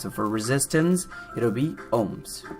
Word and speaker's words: ohms: symbol I think yeah Omega symbol and we pronounce it as ohms okay so the unit of resistance is owns